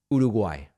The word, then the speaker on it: Uruguay: Uruguay, I've found I mean, it's come on. So I'm just it's just a reminder of the way that it's pronounced Uruguay.